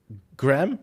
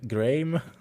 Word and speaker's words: Graham: of me, I have no idea how to pronounce the first name of the person behind this product. Graham. Graham. just like okay I was like Graeme I'm sorry I am so bad